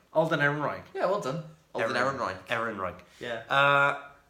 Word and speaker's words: Ehrenreich: main character playing console oh hang on I'll pronounce it right I didn't want to say Alden I'm like Oh Ehrenreich Alden Ehrenreich yeah well done Ehrenreich yeah I like him